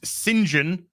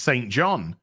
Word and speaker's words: St John: it does and and in some cases it is pronounced St John but in other cases it can actually be pronounced singen so I don't know